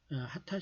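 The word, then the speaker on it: 秦: 바꿔 진 거죠 그래서 발음은 하타 라고 했습니다 그리고 또 1 쪽으로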